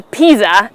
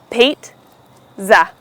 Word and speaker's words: pizza: Yeah, even though this word does not have a t while writing it, it is pronounced with the t sound. So it's called pizza, and not a pizza, as many people wrongly pronounce it.